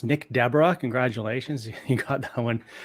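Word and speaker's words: Nick Desbarats: yeah so so you are correct that is pronounced Nick Deborah congratulations you got that one correct it's not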